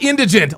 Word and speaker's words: indigent: Not indignant. Not indigenous. It's indigent.